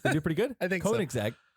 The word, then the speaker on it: Koenigsegg: taught me how to say this correctly um koenigsegg good job you're pretty good i think koenigsegg correct me from wrong koenigsegg they have the